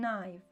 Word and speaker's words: knife: До речі, й тут не читається. Gave her a knife.